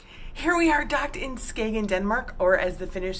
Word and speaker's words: Skagen: was in Denmark here we are docked in Skagen Denmark or as the Finish say scan Denmark rhymes with the praying you can see the cargo